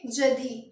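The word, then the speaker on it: jeudi: लिखेंगे जेई यू डी आई और इसको हम प्रोनाउंस क्या करेंगे जदी क्या बोलेंगे जदी थर्सडे को हमें बोलना है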